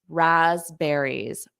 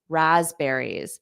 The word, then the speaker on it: raspberries: some raspberries raspberries so notice that P is not pronounced rasberries raspberries and there's more of a z Raz Raz raspberries raspberries raspberries because you